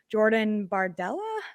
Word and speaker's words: Jordan Bardella: a 27 year old uh his name is Jordan bardella I hope I'm pronouncing that right and is that right Cindy